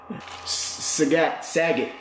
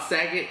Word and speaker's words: Sagat: Sagat. People pronounce it differently. Bob Saget? No. Sagat.